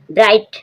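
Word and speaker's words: bright: फाइट फाइट means युद्ध जी S silent है ब्राइट ब्राइट means चमकीला जी एच साइलेंट है यहां ब्राइट ब्राइट मींस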